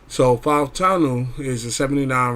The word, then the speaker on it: Fautanu: So I actually got to pronounce it. My wife is actually Fautanu. So Fautanu is a 79 right tackle.